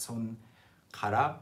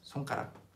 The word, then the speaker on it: 손가락: 손가락, although the pronunciation changes, 손가락, 손가락, 발가락.